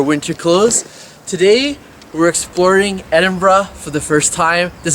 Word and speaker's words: Edinburgh: name of the city as a Canadian I would be saying Edinburg but I keep hearing the locals say edin so that's where we're